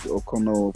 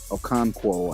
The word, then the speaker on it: Okonkwo: The tight end should be Chig Okono for the Titans. Okonkwo, I think I might have said his name wrong.